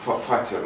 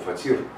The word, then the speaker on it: фатир: У меня хлеб, фатер называется, фатер, я думал фатир, неправильное ударение делал. То есть таджики меня, узбеки, которые пекут из хлеб, поправили, что правильно фатер. А я посмотрел, что даже